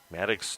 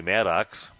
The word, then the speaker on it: Maddox: after that Maddox Sly Maddox don't call me madx Sly they made that sure that was clear but the coaches that's